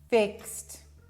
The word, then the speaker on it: fixed: Try to say ixed instead of ixy, right?